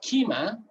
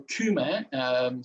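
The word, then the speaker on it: Κύμη: In Aeolus, we have Kima, or Kume, some people would like to pronounce it, and which is more fitting in Greek, Kume.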